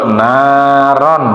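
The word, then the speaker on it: نارا: Di situ naron, bukan naron, tapi dibaca tanwin ketemu dengan huruf idhar, dibacanya harus jelas.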